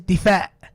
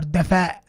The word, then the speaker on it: دفاع: Okay, so this is not dafi, this is difa. Okay, or dafa. Okay, because this alif belongs after the dal.